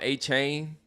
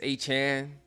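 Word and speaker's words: Aiyuk: I used to call him A-Chain. It's A-Chan.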